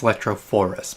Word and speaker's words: electrophorus: all right in my other video i totally mispronounced this it's electrophorus but anyway same thing we're going to charge